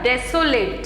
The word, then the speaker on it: desolate: वैसे इसका प्रोनाउंसिएशन होगा डेसोलेट, ठीक है, जो कि एक एडजेक्टिव है और इसका मीन्स है अनहैप्पीनेस एंड लोनलीनेस.